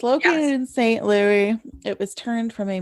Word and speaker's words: St. Louis: It looks like Louis to me, Yeah. not Lewis.